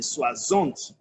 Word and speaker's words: soixante: You can also see that in soixante. For those that were in class for numbers, 60 is soixante.